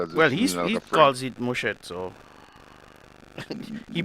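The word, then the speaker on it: Muschete: Yeah, I think it's really mush. But, you know, Jamaica say mushet cuz Well, he calls it mushet. So, he pronounce it mushet.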